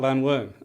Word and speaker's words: Llanwern: I was introduced to golf at Llanwern. I've been a member since the age of 8. I'm glad you pronounce it properly.